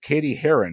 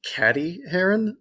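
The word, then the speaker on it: Cady Heron: what comedy follows 16-year-old Katie Haren who transfers to a public high school after being homeschooled for her whole life uh I believe it's pronounced caddy Haron uh me mean oh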